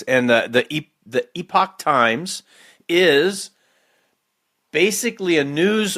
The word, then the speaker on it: Epoch: Epoch. Epoch. I think that's a better way to let people know that you're saying you're not saying epic.